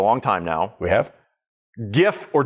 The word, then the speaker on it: GIF: GIF or GIF. Now, it's graphics interchange Dude, format. don't. It's a hard G.